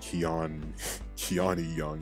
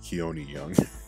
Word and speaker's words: Keon Young: saying his name right I just want to note that his name is not Kean keani young it's Keon young I pronounced it wrong the rest of the whole video but it's ke young but um he's like